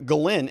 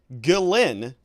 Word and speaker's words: Ghislaine: He was treating the wrong letter of Ghislaine as silent.